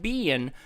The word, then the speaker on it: being: to be a horse-like being with a single horn on its forehead? A horse like what? A bean. A bean? B-E-I-N-G. I don't say I-N-G words. It's not. Being. Being. Being. No, 2 syllables.